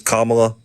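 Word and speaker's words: Kamala: right I'm sorry I'm is commala like like imagine a comma in a sentence and just La after it comma La okay comma yeah I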